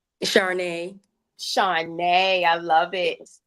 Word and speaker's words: Charnay: How you pronounce your first name? Charnay.